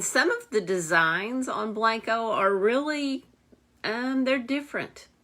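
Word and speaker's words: Blenko: was looking up the blanco it's spelled b-l-e-n-k-o but it's pronounced blanco when i was looking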